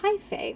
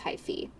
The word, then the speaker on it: hyphae: he found evidence of hyphae i think that's how you say it hyphy i think it's high fee h thank you thank